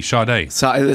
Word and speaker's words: Sade: who Sade is but s a d e shade it's pronounced I don't even know